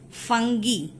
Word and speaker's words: fungi: Okay, the real or the correct pronunciation of this word is fungi.